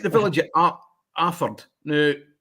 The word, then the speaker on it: Alford: It's like the village of a Aford. Now it's spelled Alford, but if you call it Alford, well, you you get hung drawn and quartered. It's Alfred. You know, you don't pronounce the L.